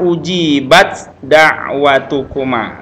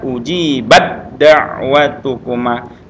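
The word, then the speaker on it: أجيبت دعوتكما: Jadi bacaannya ujibat da'watukuma. Nah, ketika seperti ini ketemu dengan sejenis sama dengan makhrajnya, maka tidak lagi tanya dihameskan tapi langsung ke suara dal. Jadi bacanya ujibat da'watukuma, langsung ke suara dal ya. Jadi jangan ujibat lagi tapi ujibat da'watukuma ya. Ujibat da'watukuma, agak ditahan sedikit.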